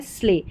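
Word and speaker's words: sleigh: यानी कि ई आई जी एच को ए पढ़ते हैं। तो यहां पर है एट इ आई जी एच है। एट वेट नेबर और यह है फ्रेट और यह है स्ले। तो यहां पर ई आई जी एच इ आई जी एच ए की ही ध्वनि देता है ये नंबर 18 पर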